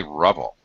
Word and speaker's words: ruble: talked to Russian students the way they pronounce it in Russian sounds like rubble in English we always say ruble